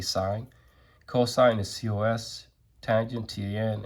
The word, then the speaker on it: sine: Even though it's, it's spelled sin, we say sine.